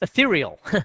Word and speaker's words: Ethereal: where I've installed and I never can pronounce this right for some strange reason but uh it's ethereal I always want to call it eal but it's ethereal any case just do aethereal